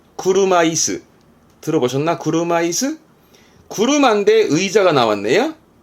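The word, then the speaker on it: 車椅子: 발음은 구르마이스.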